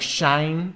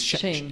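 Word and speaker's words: Shein: Big names in fast fashion are companies like Shine. No, how do you pronounce this? Shane.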